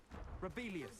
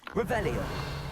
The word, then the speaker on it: Revelio: Rebellious. Saying it wrong. Revelio.